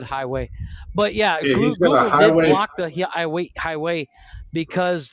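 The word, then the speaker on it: Huawei: called highway or highway it's spelled hawaii but it's said highway but yeah highway highway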